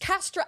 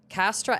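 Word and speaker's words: Kastra: Ladies and gentlemen, my new sponsor for the month of August, Castra Eleon vodka.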